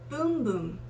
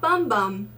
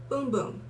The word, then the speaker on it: Bum Bum: and this is the infamous boom boom cream not bum bum boom boom because it's brazilian or portuguese that's how you pronounce it i i just